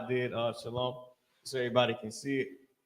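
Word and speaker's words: שלום: you know is is shalom. What they call shalawam. Shalom. The correct way to say it. That's what you'll have. Everybody saying it now. Shalawam. And they saying it wrong.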